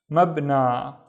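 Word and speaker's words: مبنى: So the first syllable would be mab. The second syllable is na. So this letter that looks like a ya with no dots, we just treat it as a regular long vowel alif.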